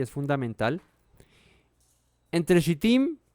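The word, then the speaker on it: שטים: eso ocurre en sitim Cómo se dice en hebreo se dice shtim Qué traduce acasia eso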